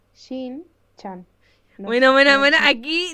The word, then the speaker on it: Shin-chan: ¿Por qué me sale Chin-chan? Chin-chan. ¡Sí, tío! Me sale Chin-chan, ¿vale? Nunca mejor pronunciado. ¿No te viene? ¿Cómo es? A ver, lista. Es Shin-chan.